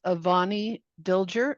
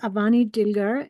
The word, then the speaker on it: Avani Dilger: Next on our list is Avani Dilger, and I do apologize if I mispronounced.